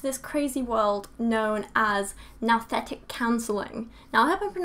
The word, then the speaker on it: nouthetic: but I think it's now setec even though a part of me wants to say new setec I think it's now that anyway according to Wikipedia